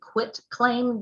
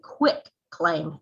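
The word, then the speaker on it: quitclaim: a lot about a quit claim deed now that's q-u-i-t it's almost always pronounced to me as a quick claim deed q-u-i-c-k that is not the correct term i almost never ever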